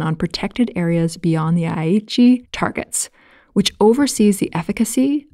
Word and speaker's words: Aichi: and just to check the pronunciation of aichi did i get that right or was i off i think you did very well i think it's aichi yeah aichi got it got